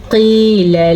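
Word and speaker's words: قيل: اس کو پڑھا وَإِذَا قِيلَ لَهُمْ، کیا ہے یہ؟ قِيلَ لَهُمْ، قاف کو موٹا پڑھیں گے کیونکہ یہ قاف ہمیشہ ہی موٹی پڑھی جاتی ہے، لیکن قاف کے بعد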